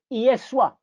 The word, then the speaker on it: Yeswa: So instead of Yeshua, the name became Yeswa. Yeswa. Because the I is pronounced like the Y, or the Y is pronounced like the I.